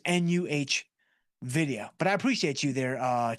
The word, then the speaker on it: NVIDIA: It is NUH video.